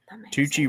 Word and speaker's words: Tucci: Tucci rhymes with Gucci.